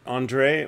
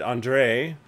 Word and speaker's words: Andre: Andre, the accent is on the second syllable.